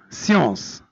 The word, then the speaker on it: science: Science, l'ulum, science. On écrit science avec SC et on en prononce science.